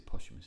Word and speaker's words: posthumous: how do you say that posthumous as a posthumous isn't it yeah post death yeah that's right